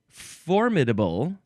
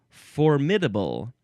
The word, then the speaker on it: formidable: Uh, it is the word formidable or formidable. You can emphasize either one of those syllables and I sort of go back and forth. I think I typically say formidable for some reason. That one just seems right to me.